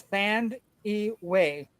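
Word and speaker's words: Thandiwe: Um, Newton by the way has a new way to say her name by the way. Um, it used to be Thandy, but there is a wei in it now at the end. So it's Thand Way.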